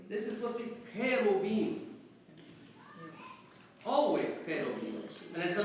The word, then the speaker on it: cherubim: In English, it's pronounced from the original Hebrew, cherubim. Okay? In Arabic, coming probably through the Syriac, karobim. Okay? Or cherubim.